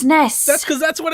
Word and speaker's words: SNES: Arabic this is co Nintendo pronounces this ness that's cuz that's what